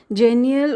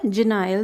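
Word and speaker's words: genial: लेकिन ही look like a wise and जेनियल और जेनाइल, दोनों वेज में आप इसको प्रोनाउंस कर सकते हैं।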